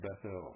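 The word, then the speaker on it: Bethel: That should be pronounced Bethl, folks.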